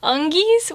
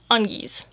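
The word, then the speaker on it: Ongis: half catfish hybrids and just given the monkey part i'm pretty sure you'd pronounce this undies and i did just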